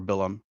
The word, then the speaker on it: Balaam: you have Balaam or Bilam, Hmm. depending on your pronunciation.